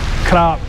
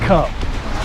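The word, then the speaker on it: ครับ: So I would say like krap would be K-R-O-B-P. It would be something that I can familiarize. It would be something that I could see, that I could try to say it properly. But some people from different parts of the world, they spell things differently. I've noticed some people say K-U-P. Me, that would sounds like cup. Sawadee cup.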